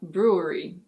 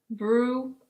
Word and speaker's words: brewery: Let's first say it slowly. Brew-a-ree. Brewery. Brewery.